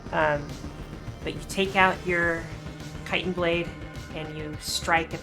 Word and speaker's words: chitin: Nah, she's just taken out her, I'm gonna mispronounce this, chitin blade? Chitin blade, yeah. Titan blade, there we go.